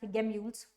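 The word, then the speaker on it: gemmules: और जेम्यूल आपका ना कभी किसी क्वेश्चन में देखना ये पीवाईक्यूज भी आता है, जेम्यूल्स पे बहुत ज्यादा आता है, और some people pronounce it एज गेम्यूल्स, वन एंड the same thing.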